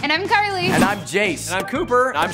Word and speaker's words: Jace: uh jace rhymes with ace uh cooper is weird